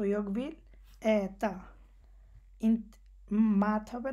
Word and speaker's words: mat: এখানে আবার এসে তারা কিন্তু আবার মাত বলছে না, মানে যে এতা বা হান, এখানে যে আমরা যে আর মত উচ্চারণ করতেছি ওইটা হচ্ছে না, এখানে হচ্ছে মত, মানে এর আর কি